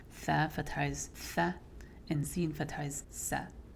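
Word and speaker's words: ث: it that way, but you don't want to add a whistling sound to tha.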